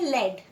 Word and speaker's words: led: For example, the word LED is pronounced with a short vowel sound as इन BED एंड FED। अब देखो, ये जो words है ना LED, हम उसे पढ़ते हैं लेड, वैसे ही BED हम